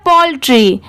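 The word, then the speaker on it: poultry: में मिला देंगे तो कैटल ऐसे करके आप स्पेलिंग भी याद कर सकते हैं ए एंड डी एंड ये है पोल्ट्री पी ओ यू L Paul और टी आर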